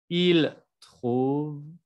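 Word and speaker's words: ils trouvent: nous trouvons, vous trouvez, il trouve, elle trouve. Y no me vayan a pronunciar la E, en, T al final. ¿Eh? Aquí nada más vamos a pronunciar la base.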